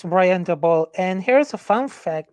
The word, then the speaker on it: Daboll: Yeah, Dabble, Brian Dable, Dabble, DeBall, whatever. I don't know how to pronounce it, but I will learn That's it. It becomes yeah, head that's coach. Yeah, it's Brian Daboll.